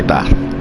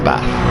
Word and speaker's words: Bath: And I say it like a northerner because I don't put an R in Bath. I say Bath. It's a Bath. B-A-T-H.